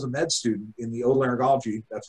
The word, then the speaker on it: otolaryngology: The reason I do head and neck surgery is because when I was a med student in the otolaryngology, that's how you pronounce it, department, all the surgeons were super happy, and they really loved their lives.